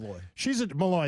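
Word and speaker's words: Molloy: Is that how you say her name? Malloy.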